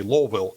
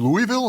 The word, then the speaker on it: Louisville: you get down there you have to say lville because that's how they pronounce it down there like Oh you mean Louisville and say yeah don't say that I'm trying